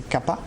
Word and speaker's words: Kapha: Et Kapha, ou Kapha, pour bien prononcer, c'est Kapha, c'est tout ce qui est